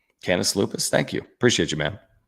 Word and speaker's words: Canis Lupus: Can tell me the pronunciation on this. Kenes Lupus. Canis Lupus.